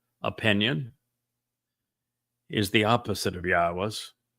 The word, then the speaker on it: Yahweh: But since your opinion is the opposite of Yahweh's, it's obvious that you speak for the very religion God despises. Ask yourself, why was I able to ascertain that Yahweh is the proper pronunciation of God's name and prove it?